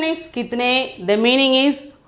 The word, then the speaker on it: कितने: The pronunciation is kitne.